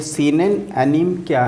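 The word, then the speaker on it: anime: अच्छा, आप ये बताएं, ये सीन एंड एनीम क्या है? आपने बताया है इसमें watching scene and एनीम। सर इसको कैसे प्रोनाउंस करते हैं?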